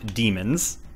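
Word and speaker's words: dæmon: Society with spirit animals with spirit animals called demons spelled as Damon Damon but pronounced demon people in the no know that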